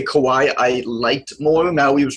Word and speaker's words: Kauai: Probably, though, I would say Kauai I liked more.